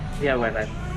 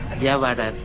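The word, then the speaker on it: Yaowarat: Yawarat. That's the correct pronunciation. Yawarat.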